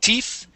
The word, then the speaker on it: thief: Where did you go, thief? Okay. So instead of saying thief, it is thief with a TH sound.